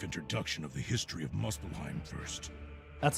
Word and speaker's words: Muspelheim: Let me give you a brief introduction of the history of Muspelheim first.